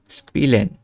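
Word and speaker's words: spielen: আমাদের মূল লক্ষ্য হচ্ছে যে আই আর ই থাকলে উচ্চারণ হ্রস্বের মতো হবে। এটা হচ্ছে কি না সেটাই মূল লক্ষ্য। তো স্পিলেন অবশ্যই হ্রস্বের মতো উচ্চারণ হচ্ছে।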